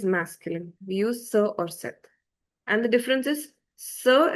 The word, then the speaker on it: cette: And the pronunciation of this and this is the same, set. This is sir and this is say.